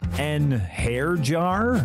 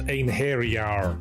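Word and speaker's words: Einherjar: An hair jar? It's pronounced ein hairyar.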